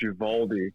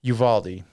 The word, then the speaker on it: Uvalde: may have heard, there was a shooting in Uvalde, Texas, and anytime there's pronounced Uvalde. Uvalde.